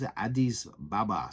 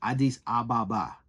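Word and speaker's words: Addis Ababa: capital he can't he he didn't even know how to say the capital the name the the the he was Adis Baba something it's Adis Ababa okay it is the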